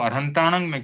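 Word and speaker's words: अरिहंताणं: करते हैं जैसे नमो अरहताणं में किया है तो वहां परम वहां पर अंत में मोनुस्वार से म का अनुस्वार बना है तो वहां पर नमो अरिहंताणम ये सही माना जाएगा।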